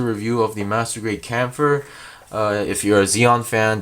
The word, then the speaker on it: Kampfer: I usually go for Kampfer. Some people say Kampfer.